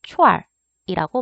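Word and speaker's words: 串儿: 얘는 보통 얼화를 시켜서 말을 하고요. 발음을 하게 되면은 추 안에다가 얼화를 시켜서 추얼이라고 발음을 합니다.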